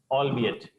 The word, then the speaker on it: albeit: it's a Sunday afternoon although it's noisy okay pronunciation is allbe it meaning is although we check the next word